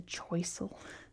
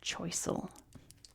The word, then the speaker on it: Choiseul: It's now called Chisel which I kind of like pronounced that way.